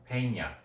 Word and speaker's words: Peña: That's because it's an accent, so you don't say it how it's spelled. It's Spanish. Peña.